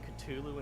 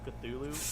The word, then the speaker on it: Cthulhu: During the Cthulhu Dream song, he kept saying Cthulhu instead of Cthulhu. and I that did was, like, hear that. Making me Yeah, that was irrationally funny. Yeah. annoyed. Like, Understandable. that's not how it's said.